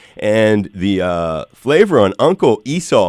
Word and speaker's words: Esau: the flavor on Uncle Esau. Am I pronouncing that right, Bobby? Yeah, Uncle Esau.